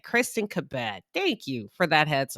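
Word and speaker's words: Cabot: You were like, "Listen, you're saying her name wrong. This is how you formally pronounce it." Okay. All right. All right. Kristen Kabette, thank you for that heads up to the viewer.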